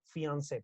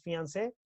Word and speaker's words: fiancé: Este es fiancé, es prometido, fiancé, es the same, ¿no? The pronunciation is the same, prometida, ¿listo? Esa palabra deriva del francés, por eso tiene como un acento ahí en la E.